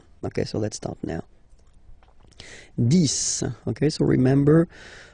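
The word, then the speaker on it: dix: 10, okay, so remember, final X here is pronounced like S, 10, 10, okay, then 11,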